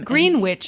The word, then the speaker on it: Greenwich: Greenwich is how they pronounce it.